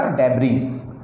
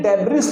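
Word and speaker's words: debris: अगर इस वर्ड को आप कई बार बोलेंगे तो आपको कमाल के बताऊं कि ये डेब्रिस न हो करके ये डेबरी हो जाएगा।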